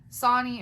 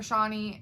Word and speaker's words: Shawnee: So Sonny or Shawnee, however you want to pronounce it. I pronounce it both ways.